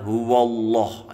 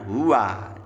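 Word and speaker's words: هو: tebal nah ini biasanya orang kesalahan membaca dibaca huwallah ya padahal mestinya Hua nah ini wa-nya tidak boleh miring jadi Hua ya Hua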